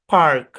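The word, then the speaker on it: park: ইংলিশে এই শব্দের উচ্চারণ পাক পাক পাক কোন আর উচ্চারণ হবে না আমেরিকান ইংলিশে এই শব্দের উচ্চারণ হবে পার্ক পার্ক এরকম ব্রিটিশ ইংলিশে এর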